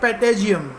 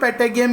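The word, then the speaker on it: patagium: बैट फ्लाई कर सकता है विद द हेल्प ऑफ, अब कुछ टीचर्स को पेटेगियम भी प्रोनाउंस करते हैं, तो don't harass me for pronunciation. It's पेटागियम और पेटाजियम, जैसा तुम्हें चाहिए यू कैन प्रोनाउंस.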